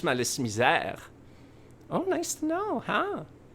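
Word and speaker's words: Malice Mizer: You made the joke that Malice Misère was pronounced in French, but the Japanese love French, so it's actually pronounced in French, Malice Misère.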